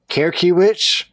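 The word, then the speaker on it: Krekiewicz: Kerkiewicz? That sound right? Sure, that's not Kozlowski's cousin? No, it's K-R-E, so that'd be Cree, K-E, that'd be key, and then witch. Creaky witch.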